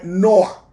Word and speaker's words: Noé: Noé viene de la palabra Noah, se pronuncia Noé, Noah.